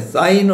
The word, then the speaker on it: sin: 그러면 사인은 어떻게 읽어 주느냐?